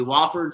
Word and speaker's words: Wofford: Not Wofford. It's Wofford, right? Yeah. Wofford. That's your neck of the woods. Isn't that South Carolina? Yeah, they're over in Spartanburg, not too far. Right. Talk to me. Wofford, Tennessee.